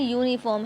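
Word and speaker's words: uniform: कुछ लिखा हुआ है the words यूनिकॉर्न एंड यूनिफॉर्म have spelling beginning we with you आप देख रहे हैं इसमें जो यूनिकॉर्न है और यूनिफॉर्म है इसमें जो स्पेलिंग की का जो शुरुआत है वो यू से है ववलू सेशन विद यू और जो प्रोनंसिएशन है वो यू के साथ है consonant sound there फॉर article has been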